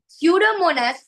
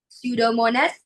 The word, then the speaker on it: Pseudomonas: Pseudomonas. P is silent. P is not pronounced. We don't pronounce the P. Pseudomonas is a bacteria which is released to the ocean water.